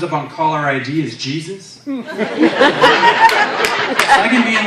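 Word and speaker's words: Jesús: you just call me it's pronounced Jesus the J is soft I don't know why you white people can't get that right then this pronounced my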